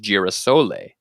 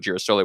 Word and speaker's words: girasole: people spoke English, and there was a mispronunciation of the Italian word for sunflower, which is girasole. And the idea is that an English speaker said, "Oh, a girasole artichoke, a Jerusalem artichoke," and they didn't know what girasole was.